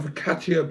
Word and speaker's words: focaccia: I like olive oil infused with a rosemary and garlic, served on focaccia. Is that a hard C? Double C, isn't it? It's a hard C. Served on focaccia bread.